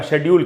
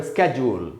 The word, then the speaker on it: schedule: American में इसको पढ़ते हैं स्केड्यूल, स्केड्यूल या स्केड्यूल, ये भी उच्चारण है, लेकिन जो पॉपुलर उच्चारण हुआ है स्केड्यूल। तो ब्रिटिश में बोलेंगे शेड्यूल, अमेरिकन बोलेंगे स्केड्यूल या स्केड्यूल।